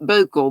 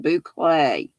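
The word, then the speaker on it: bouclé: boucle all the way i know it looks like buckle but it's pronounced boucle it's like the faux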